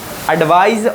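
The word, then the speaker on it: advice: एडवाइस और एडवाइस में फ़र्क है, सा और जा में, याद रखना।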